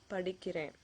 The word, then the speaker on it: படிக்கிறேன்: that you're doing something, it usually ends with that na sound, படிக்கிறேன். You can see that it ends with an N there. Okay? But some people pronounce it as படிக்கிற. So that is totally different meaning.